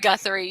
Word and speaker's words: Guthrie: from is it guthrie is it guthrie i've always pronounced to go through but i don't i i know i put your names all the time so i don't know okay it's right guthrie you're friends i'm wrong